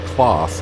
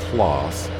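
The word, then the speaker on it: Claas: for the class or class dominator i would say class but i think they pronounce it clause um yeah that dominator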